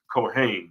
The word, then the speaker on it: Cohen: a lot of the small hats are named Cohen right even though it's pronounced cohain but but they are spelled spelled just like